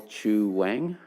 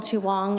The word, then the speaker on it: Chu Wang: and that is chu wang excuse me i'm told it's so i apologize for my mispronunciation go ahead thank you i would have corrected you my name is chu wong and i have a